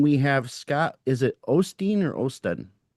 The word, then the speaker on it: Osteen: Is it Ostein or Odden? Ostein. Scott Ostein.